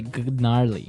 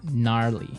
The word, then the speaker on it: gnarly: so an interesting word it's spelled g n a r l e y okay so but you don't say gnarly no you say gnarly yep and a related